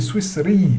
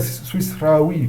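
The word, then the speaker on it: سويسري: Un Suisse, c'est Swissri. C'est pas Swissraoui, comme font les Algériens avec leur dialecte.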